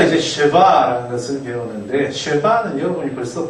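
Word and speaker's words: שְׁוָא: 그래서 어떤 문법책에 보면 쉐와, 스와, 스바 뭐 이런 식으로 할 거예요. 그러니까 이 쉐바의 발음을 아주 짧은 거의 뭐 들릴 듯 말 듯한 발음이 날 경우에는 그렇고요. 그 다음에 쉐와라고 발음하는 것은 우리가 앞서 1과에서 배웠던 것처럼 바브의 발음을 W를 V로 할 거나 워로 할 거냐의 차이니까 쉐와나 쉐바나 같은 말이다.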